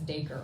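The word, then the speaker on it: Dacre: I'm Southern but I saw it as daker like acre with a d tapped on but you know I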